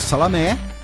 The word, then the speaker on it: Salamé: Embora o nome dele se escreva como salame. Tá? Eu pronunciei Salamé, mas eu chamaria ele de salame se eu estudasse com ele na escola.